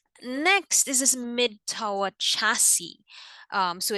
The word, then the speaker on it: chassis: That's how you pronounce that, chassis, like a car again.